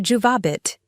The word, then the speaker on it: juvabit: Juvabit should be pronounced with the emphasis on the second syllable, not the third.